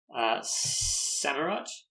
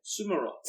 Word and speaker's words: Samurott: Samurott? Oh, man, I've always said it wrong. What have you said? Sumarot. I switched the U and the A.